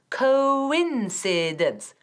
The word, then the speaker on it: coincidence: es una palabra buenísima coincidence cuatro silabas pronuncian bien coincidence muy bien y no decimos coincidence coincidence casualidad y tampoco decimos